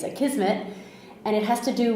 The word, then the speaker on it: Akismet: So the question that I have for you today has to do with Akismet, which I always thought it was like Akismet or something, but it's Akismet, and it has to do with it's spelled Akismet.